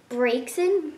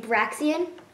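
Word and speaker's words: Braixen: I watched the anime and they said Breaksin when I was saying Braxian. So now I know how to say it.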